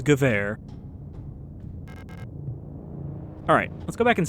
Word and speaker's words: Gewehr: I just know that if we get a W, we pronounce it like a V. It is not Gewehr, it is Gewehr.